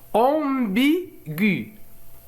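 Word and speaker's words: ambiguë: ولكننا إذا وضعنا لو تريما هنا إذن سوف نسمع صوت U، سيصبح ambigu.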